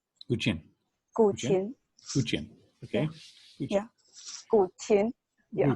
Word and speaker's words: guqin: Yeah, how do you pronounce it? Guqin. Guqin.